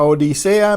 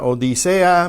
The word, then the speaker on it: odisea: Una odisea mediterránea. Una odisea mediterránea. Mediterránea. Odisea. Okay, the E and the A are both strong vowels, so they will be pronounced as different syllables.